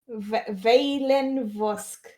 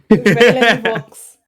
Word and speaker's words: Veilen Vos: Veilen Vox. Veilen Vox. You You had it right the second time. It's Vos.